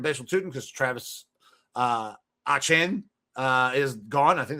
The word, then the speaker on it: Etienne: Etienne because Travis uh Etienne uh, is gone. I think that's how you pronounce his name now. It's not Etienne. It's like you got to toss a lot of Creole up on that Etienne.